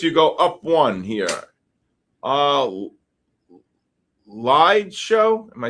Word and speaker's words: Liedshow: Lied Show. Am I saying that? Lead Show? LIEDSHOW. Am I saying it right? Yeah, lead show.